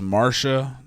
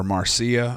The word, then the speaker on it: Marcia: Commodus, anyway, so he had killed Cleander some say at the urging of his mistress Marcia or Marcia. I heard it pronounced both ways in my research.